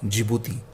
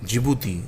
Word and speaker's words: Djibouti: S for Somalia, E for Eritrea, E for Ethiopia, and D for Djibouti. In Djibouti, D is silent. Again, I repeat for you: Somalia, Eritrea, Ethiopia, and Djibouti.